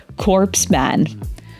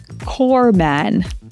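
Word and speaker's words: corpsman: right The North Stream pipeline Barack Obama accidentally pronounced a Medical Specialist in the US Navy as corps Man though he meant to say Cor Man What's the name of the Organization dedicated to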